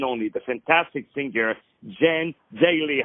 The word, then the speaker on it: Daley: So it's Jan, and it's Daley with a David.